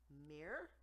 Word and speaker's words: Mir: for the space station Mir, I think is how you say it, MIR, from a Moscow museum.